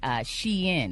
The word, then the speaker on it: Shein: And online fashion giant Shein. It's not Sheen, it's Shein.